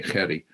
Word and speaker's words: Gerry: The Gerry is pronounced in the South African way, Gerry.